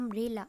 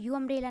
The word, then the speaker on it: umbrella: okay u से start है बट इसका प्रोनाउंसिएशन कहाँ से, ए से स्टार्ट हो रहा है, अम्ब्रेला. ओके हम लोग यू अम्ब्रेला नहीं बोलते, अम्ब्रेला बोलते हैं.